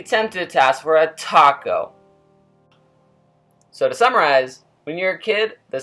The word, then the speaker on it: taco: Spanish does not have this rule in their language, and thus would pronounce the famous Mexican food as taco.